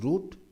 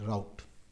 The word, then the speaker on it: route: route that you take in India we call it pronounce it as roote in the West country they pronounce it route we'll call it route you Indian isn't it